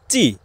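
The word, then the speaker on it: ci: এর পরবর্তী বর্ণটি রয়েছে ইংরেজিতে সি কে ইতালিয়ান ভাষায় বলা হয় চি আমরা যেমন ইংরেজিতে বলি সি এটা ইতালিয়ান ভাষায় উচ্চারণ হবে চি চি দিয়ে দুটি শব্দ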